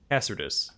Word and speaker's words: Cassardis: Cassardis.